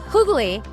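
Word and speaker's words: hygge: It's um pronounced kugali.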